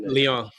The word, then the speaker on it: Lyon: How you pronounce that? Lyon.